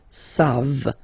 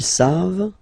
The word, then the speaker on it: savent: And then il, here classic ending for il and elle at the plural form, E-N-T, you don't pronounce it, so you get the sound savent, v-v-v-v, savent, okay?